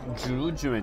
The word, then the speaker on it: 竹巻き: 、竹巻きと書いてジュジュエンって言うんですけ